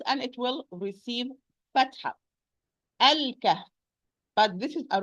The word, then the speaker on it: الكهف: Lam is going to be pronounced because this is lam qamariya, because the kaf, it's 1 letter from the sentence ibghi hijjak wa khaf aqima.